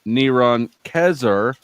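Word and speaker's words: נרון קסר: got Hebrew scribbles um this is pronounced neron kezer and has the value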